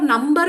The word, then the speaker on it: number: ma'am, for number, ma'am? number, you are pronouncing B. Okay. It is number.